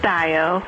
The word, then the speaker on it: Dio: Turner we have Dio am I pronouncing your name correctly yes you are it's Dio Dio I've never heard of